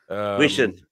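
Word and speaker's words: Huijsen: And how do you say that name, by the way? Dean Hodgson? Wishin.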